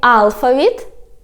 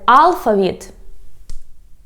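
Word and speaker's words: алфавіт: So you can say alphabet and alphabet. So I always pronounce this word as alphabet, but I didn't know it has another stress like alphabet.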